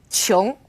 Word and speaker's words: qiong: Now here's an interesting one, Q as in qiu or qiong. It's similar to the CH sound in English, kind of like a chu, qiong.